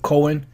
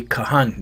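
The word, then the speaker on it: כהן: and names cohen or they might call himself cohen you know that's the way they say it that's our priest but it's really kahani that's how you pronounce it kahan which is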